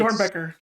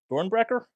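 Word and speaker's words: Doernbecher: How do you pronounce this hospital's name, Alex? It's Dornbecker.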